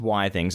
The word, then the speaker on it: Withings: Now, I believe it is pronounced Withings according to Penn because it stands for Wi-Fi things. I don't know how true that is. I believe it is for Wi-Fi things, but I think it's the same as biography.